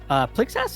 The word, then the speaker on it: Plixas: Plixas, is that how you say it? Like Roxas, but instead of Plixas.